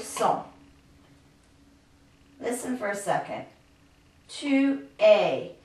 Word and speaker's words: es: This es is very similar to, if you think of the pronunciation in English, a, y. Tu es. Il est. It's spelled differently in French, but it's pronounced just the same way.